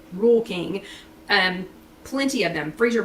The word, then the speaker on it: Rural King: i got them at rural king if you happen to have a rule king r-u-r-a-l-k-i-n-g rural king but we pronounce it rule king and plenty of them